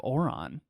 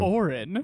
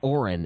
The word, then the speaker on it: Orin: But apparently people have our problems with our pronunciation of Oron. Oh, yeah, that is very true. Orin. Orin, as it is traditionally called.